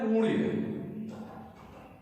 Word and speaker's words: पुण्य: आधा ण वर्ण है तो वहां पर उच्चारण भी ण के रूप में ही होगा। जैसे अशुद्ध प्रयोग, ये शब्द है पुण्य, इसको कुछ लोग ण